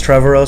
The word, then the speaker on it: Trevorrow: And I know, like, Colin Trevorrow, I've heard his name pronounced both ways. I think it's Trevorrow, so I'm going to go with that.